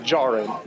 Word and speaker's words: Djarin: The D in the last name is silent. They're big fella. Oh, Din Djarin.